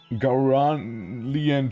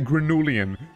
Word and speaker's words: Gauralian: So we have a few Gauralian trees. I gotta, you know, check how to properly pronounce it, because I always say Granulian. It's Gauralian.